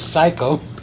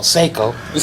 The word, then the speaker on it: Seiko: Her name is Psycho. Well, Seiko.